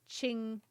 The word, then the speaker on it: Genshin: The Q is a ch sound, and the X is like a j sound. So it would be chingshin. I want to say that's how it's said.